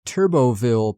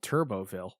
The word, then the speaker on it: Turbottville: there's a town called Turboville. It's spelled weird. It's Turbottville. I don't know if the T is silent, but it is in this episode.